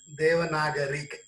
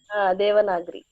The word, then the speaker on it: Devanagari: Pronounce it as Again, Devanagari. Devanagari.